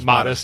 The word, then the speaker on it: Modest: Modest, yep. And Anheuser-Busch. You're pronouncing it the Bud Light way.